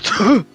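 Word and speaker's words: Touhou: It's Tohu. That's what it is. Tohu.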